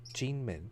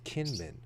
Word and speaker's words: Kinmen: a trip to uh an island called jinmin or kinmen they spell it k-i-n-m-e-n jingman which is a golden gate